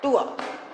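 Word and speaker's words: tour: बस आर तक पहुंचना ही नहीं है, इसका उच्चारण है टूआ।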